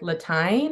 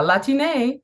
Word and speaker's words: Latine: a, what is that, like an accent over Latine so that people know it's not just like 'Latyne' or 'Lateenay' or 'Lateen', but I don't know if there's a wrong or right way to pronounce it I think you know, language is, is ever evolving, so, yeah, La-ti-NEY is how I say it.